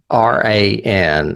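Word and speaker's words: Ciarán: But I'm not sure if it's Ciaran or Karen. It may be Karen. It may be Karen because I may be saying it wrong. It's Ciaran, and there's a hyphen over, not a hyphen, an accent mark over the second A.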